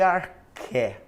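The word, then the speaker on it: arché: gente chama de ar escreve x mas a pronúncia vai ser arqué o que é arqué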